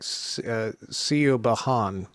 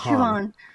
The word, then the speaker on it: Siobhan: It looks like Sio Bahan to me. Sio No, it's Bahan. Siobhan. It's Siobhan.